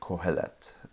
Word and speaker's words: Qohelet: Kohelet. It's spelled Qohelet for the transliteration of it, and that means teacher basically.